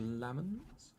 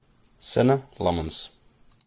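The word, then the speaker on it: Senne Lammens: So maybe I've been pronouncing his name incorrectly with Lammens. Let's have a quick look on Forvo, shall we? For now, go away with your cookies. Senator Lemons. Senna Lemons.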